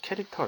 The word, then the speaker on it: char: 함수가 되겠습니다 io 케시 jr 은 여러분들 이렇게 그쵸 캐릭터 라고 읽으시면 됩니다 갯 캐릭터 라고 하는